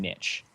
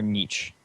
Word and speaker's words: niche: It's created its own niche, or niche, however you want to pronounce it.